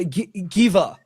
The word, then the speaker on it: Gewa: Uh Gewa came in, right? Am I saying it right, Corey? Uh yeah, Gewa. Gewa? It's It's German, so the we the the double w is just a v.